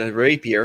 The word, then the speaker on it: rapier: The rapier. Rapier. The rapier. I said the rapier. Started with me today. All three syllables were said. A rapier.